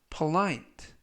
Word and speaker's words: polite: 뜻이 되겠습니다 이번 표현은 polite polite polite라고 발음하시면 되겠고요 이때 알파벳는 오 발음이 아니라 어 발음에 가깝습니다 그래서 poite라고 발음하시면 되겠고요 강세는 알파벳 아의 강세가 있어서 polite라고 발음하시면 좋겠습니다 품사는 형용사 뜻은 예의